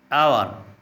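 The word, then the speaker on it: hour: इज़्ज़त, एहतराम, आवर घंटा, एच साइलेंट है। आपने देखा कि इन अल्फाज के पहले हरफ का तलफ़्फ़ुज़ नहीं होता।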